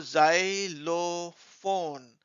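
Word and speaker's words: xylophone: Wavell नहीं होता है तो जाइलोफोन तो यह लंबा शब्द आप छोटे-छोटे पार्ट्स में उसको तोड़ के आप उसका उच्चारण कर सकते हैं एक एक्स वाई जाई एल ओ लो पी एच ओ एन ई फोन तो जाइलो फोन फिर आप वाइस से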